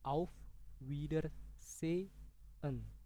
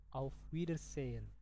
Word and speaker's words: Auf Wiedersehen: Biasanya orang Jerman itu dalam pronunsiasi bahasa kata bahasa Jerman itu H itu enggak dibaca. Jadi Auf Wieder se en. Se en. Kalau cepatnya Auf Wiedersehen. Coba teman-teman ulangi. Auf Wiedersehen.